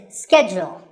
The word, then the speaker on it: schedule: In American English, this is schedule. The first syllable is ske and the second is jewel.